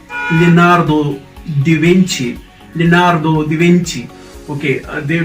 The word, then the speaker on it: Leonardo da Vinci: so this is huh okay how do you pronounce this where's drawn he was man of all talents he is leonardo di venci leonardo da vinci leonardo da vinci okay they don't you know